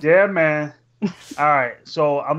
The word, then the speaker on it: Yemen: not it pronounced it's not pronounced him it's pronounced yeah man yeah man alright so I'm not going to go too